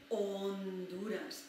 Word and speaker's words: Honduras: Honduras, even though we don't pronounce it because the H is silent, we still write it there.